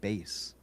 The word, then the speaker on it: Bass: His last name is actually pronounced bass.